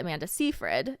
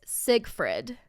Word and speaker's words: Seyfried: pillow um okay so everyone pronounces the star of Mamma Mia her name is Amanda Seyfried everyone pronounces it Amanda Seyfried oh I did not know her name oh okay well apparently it's Siegfried Amanda Siegfried so there's just all these